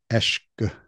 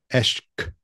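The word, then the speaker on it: عشق: And that word is, if I'm going to try to pronounce it, I'll pronounce it poorly, is eshk. The Arabic is eshk with a Q, as far as I understand.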